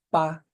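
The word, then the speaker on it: pas: o advérbio negativo mais o pa que é um outro advérbio negativo não pronuncie o s tá o verbo no meio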